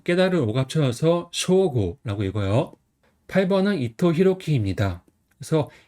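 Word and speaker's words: 彰悟: 그다음에 이름 같은 경우는 드러날 창 깨달은 오갑서 쇼고라고 읽어요.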